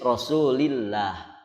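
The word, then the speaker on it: Rasulillah: Rasul ihwal udah bener kalau sebelumnya kasrah maka dibacanya tipis rosulillah kalau sebelumnya dhommah atau fatal baru dibaca tebal Rosulullah Rosulullah begitu nah ini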